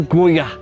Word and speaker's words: Goyard: Wah, cara bacanya Goyah. Tulisannya Goyard ya. Tapi kan kedengerannya Goyah. Seperti kata goyah.